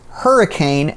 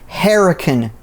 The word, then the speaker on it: Hurricane: out of the way most locals do not call this hurricane they pronounce it herac Creek I have a